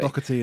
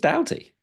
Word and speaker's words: Doughty: People were saying it's just Doughty. Doubt. Like, yeah.